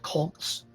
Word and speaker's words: kolk: During the megafloods, a swarm of deep and huge round potholes were drilled out by powerful circulating eddies called colks, that's spelled Kolks.